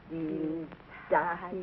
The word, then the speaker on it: Dienstag: Sonntag, Montag, Dienstag, Mittwoch. That is good, but pronounce the words broader, so Sonntag, Montag, Dienstag, yes?